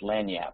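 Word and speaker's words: lagniappe: p earlier in the chat window which is pronounced lanap in Louisiana which means a little a little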